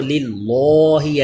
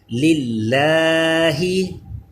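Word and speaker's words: لِلّٰہ: Next دیکھیے کہ یہ اللہ کے لام سے پہلے لام کے نیچے زیر آ گیا ہے اس لیے اس کو باریک پڑھیں گے. للہ لام باریک ہے یعنی اس کو للہ ایسے نہیں پڑھنا بلکہ للہ.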